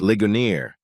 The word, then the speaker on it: Ligonier: say that it's pronounced lioner I said stressing the simple vowels and strong consonants I smiled to show